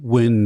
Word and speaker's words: Nguyen: It's a Vietnamese name. Nguyen. Win is the closest, yeah.